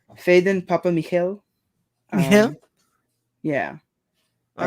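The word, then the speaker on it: Phedon Papamichael: I looked up the pronunciation for it's Faden Papa Michael.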